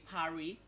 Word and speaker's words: Paris: Bacanya Pari. S-nya nggak ada.